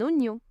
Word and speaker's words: oignon: Un oignon. Sounds quite the same. You can see here, in French, when you put G and N together, it sounds gne.